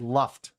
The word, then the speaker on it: Luft: we asked him, we said, all right, how do you say it? And he said, Luft.